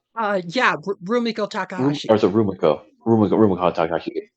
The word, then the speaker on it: Rumiko Takahashi: Is that how you pronounce her name? Uh yeah, Rumiko Takahashi or Rumiko Rum Rum Takahashi.